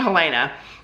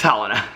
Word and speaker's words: Helena: it, only he and Helena work together. I think I pronounced her name wrong. I think it's Helena. It's Helena.